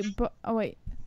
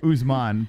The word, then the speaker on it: Usman: He said, thoughts on Colby Marty McCoonman? Marty McCoonman. Who's that? It's Usman, but yeah. All right. So thoughts on Colby versus Usman? Okay, Colby Covington versus Kamaru Usman. Yes. That's the right way to say it.